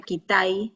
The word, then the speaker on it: Kitaj: Me encanta un pintor que se llama Kitaj, se escribe Kitaj, pero se escribe Kitai, R-B, Kitai, y que uno de